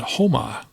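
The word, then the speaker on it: Houma: Those are pronounced Galeano and Homa.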